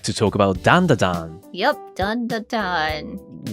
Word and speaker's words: Dandadan: Yep, Dandadan. Which sounds kind of odd to my Japanese ear because we usually call it Dandadan. But in English, I think it's pronounced Dandadan.